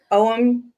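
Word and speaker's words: Ogham: druidic alphabet it was it's called om you'll see it spelled OG g h a m it's named after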